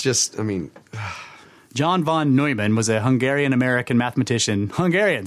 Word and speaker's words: Neumann: That Germanic language there, when you put those yeah those letters together in that way, is supposed to be Neu.